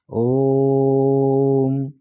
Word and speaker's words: ओम: मैं बहुत कम बोलेगा वो तीन बार चढ़ के बोलेगा तीन बार खींच के बोलेगा ओम तो ऐसे जो हम